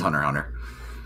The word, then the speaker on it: Hunter x Hunter: the X's are always the x is silent it's Hunter Hunter okay it's like spyx